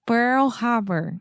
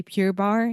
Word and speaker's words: Pearl Harbor: I I think that I got used to say Pure Bar so much and you used to correct me so much with peer peer peer you can't say pearl so a good thing